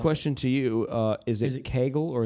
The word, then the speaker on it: Kegel: Here's to the pronounce question to you: Is it Kegel or is it Kegel? Kegel. It's Kegel.